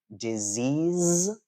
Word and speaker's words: disease: so uh for example a disease right e a e at the end and it's a z sound uh but there are